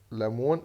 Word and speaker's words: lemon: عندنا لمبة لامب، أسد لاين، وجبة الغداء لانش، ورق الشجر ليف، ليمون ليمون. طبعا حرف الاو اعتبره سايلنت، اسمها ليمون، ده النطق الأصح.